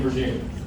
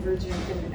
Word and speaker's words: Goshorn: He'll be introduced by Goshorn. I'm all can everybody hear me in the back? Okay. Okay. As he said, my name is Goshorn, and congratulations, you pronounced my last name correctly.